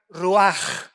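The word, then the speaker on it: רוּחַ: es la palabra hebrea ruach con ch al final que se pronuncia ruaj que se traduce espíritu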